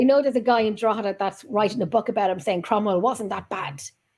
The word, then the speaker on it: Drogheda: Drogheda is nice when you go Drogheda, there. you say it right. You pronounce it proper.